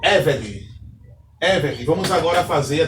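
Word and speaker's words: עֶבֶד: A única exceção é a palavra Eved, que tem a sílaba tônica na penúltima sílaba.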